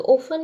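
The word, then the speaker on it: often: Second है ओफन, तो ओफन में हमारा हमेशा टी साइलेंट रहता है, टी, इसमें टी इसमें एच।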